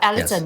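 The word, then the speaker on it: Elaton: like um well um our company is called Alon mhm right oh that's how it's pronounced yeah Alon yeah um so we have Alon Asia services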